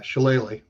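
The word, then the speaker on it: shillelagh: was is that how you say it yeah shalele learning all kinds of stuff here tonight it's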